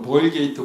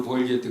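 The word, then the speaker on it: Vulgata: 미국 사람들은 그냥 미국 식으로 벌게이트 볼게이트 그렇게 이야기하는데 사실 라틴어로 그냥 발음하면 불가타예요.이 뜻은 평범한 이런 뜻이에요.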